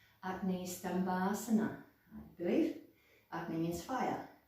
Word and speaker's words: Agni: so and then basically i think the correct pronunciation for this name in sanskrit is acne i believe acne means